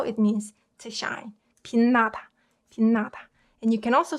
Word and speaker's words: 빛나다: 그 다음에 same with 으 combined with 느. So this one should be pronounced 빛나다, 빛나다, 빛나다, 빛나다.